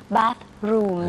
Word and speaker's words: bathroom: อย่าไปออกเสียงยาวเป็น kitchen นะครับนั่นจะเป็น s s s s s h ไป แล้วก็มี bathroom นะฮะต้องเอาลิ้นออกมาด้วย เวลาอาบน้ำนะครับ lounge นะครับออกเสียงตัวสะกดออกเป็น ch นะครับ